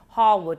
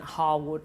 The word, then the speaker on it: Harewood: visit Harewood house although my husband said it's pronounced Harwood house but I just can't say it in my accent Harwood house and it sounds too posh to me but he's convinced it's